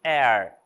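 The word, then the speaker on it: heir: palavras né né e Air Air também é relacionado a herdeiro tá herança herdeiro também não é pronunciado Air Honor our honesty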